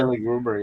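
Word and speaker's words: Lille Gruber: Lily Gruber, is that how you say his name? The drummer? Lily Gruber, yeah.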